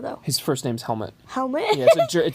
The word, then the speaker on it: Helmut: Yeah, it's a German name. Okay, that makes more sense. Yeah, it's like a European name. Okay, it's so weird. Not like the thing you wear in your head. It's spelled differently.